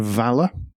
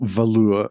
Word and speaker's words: Valour: First up, new Aston Martin Valour. And not Valour, as Americans seem to be trying to pronounce it. There's a U in there.